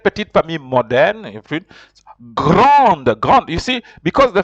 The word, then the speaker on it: grande: You have an E, on the word grande. It's a big, big. But if it was masculine, you will not have put the E. You'd have pronounced it grand. But here, you have to pronounce the D.